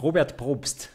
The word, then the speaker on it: Robert Probst: So can you pronounce this in a proper German way? Robert Probst.